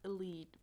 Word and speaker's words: Elide: I'm at a part where Lorcan gets hurt, and even though Alide hates him, I know it's pronounced Elide, but I'm refusing. It's Alide. Alide sounds way nicer than Elide.